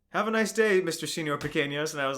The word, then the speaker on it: Señor Pequeños: and like he like asked the name, and I said, oh, it's pronounced Señor Pequeños because it's this nickname my Spanish teacher gave me when I was like 13, and it's stuck ever since then.